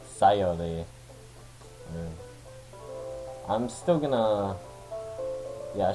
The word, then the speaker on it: Sayori: Last time, I believe when we left off, we were kind of in the Sayuri act. Or, I've been saying her name wrong. It's Sayori.